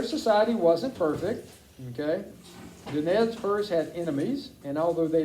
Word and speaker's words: Nez Perce: In French, it is pronounced Nez Perce, and it means pierced nose.